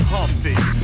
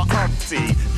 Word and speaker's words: Humpty: just let me introduce myself my name is Humpty pronounce with the humty yo ladies oh how I like to funp